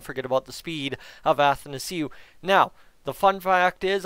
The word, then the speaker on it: Athanasiou: So Athanasiou is how I say it. That's how I was told to say it. So that's how it's said.